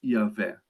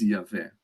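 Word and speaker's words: Yahweh: respirou assim ele disz a nossa respiração ela diz yahvé o nosso o nosso respirar ele diz yavé e foi assim que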